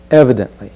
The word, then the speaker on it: evidently: word is evidently and let's be sure to stress that first syllable evidently just feel your body move into that first stressed sound evidently percussively it would